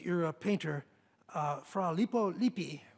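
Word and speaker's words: Lippi: painter uh fra lipo lipi who I'm afraid Browning actually pronounced as lipo LIPA and there he is and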